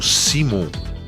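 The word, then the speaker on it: Szymon: Acho que é Simon, que é a pronúncia correta.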